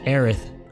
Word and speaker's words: Aerith: heiress and you need to correct it from heiress to aerith because in japan they they couldn't pronounce the the sound so everyone in the